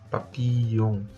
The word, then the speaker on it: papillon: vous vous vous avez aussi double l donc c'est comme si vous dis si vous écrivez papi Pillon papillon papillon papillon papillonon papillon papillon papillon papillon vous le prononcez